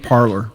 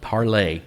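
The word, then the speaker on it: Parler: twitter we're on instagram parlor parlay parlor it's parlay that's how it's pronounced well whatever i know it's spelled parlor it's a french word it's parlay oh well i'm getting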